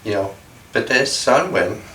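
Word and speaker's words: Ptesan Win: The white buffalo woman, Pete Sanwin is how it's said, and Pekekin Kin Kapibel, yay, she let her hair hang loose.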